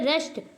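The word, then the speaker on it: wrist: हैं यहां पे देखिए रेस्ट है रेस्ट नहीं पढ़ते हैं और रिस्ट रिस्ट मीन आपका कलाई होता है तो यहां देखिए डब्लू साइलेंट है यहां आर से पढ़ते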